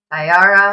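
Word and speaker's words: Sa'Yara: Yeah, Sayara Matea. Sayara. That's how you pronounce it.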